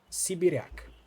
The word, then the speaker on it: Sibiryak: So she pronounced it differently, so it sounded like a Polish word. Why are you saying it that way? I thought the word was Russian. In Russian it means someone from Siberia, but in Polish it